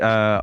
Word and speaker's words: Ajer: So it's actually Aya. I think that's how you pronounce it for Brentford.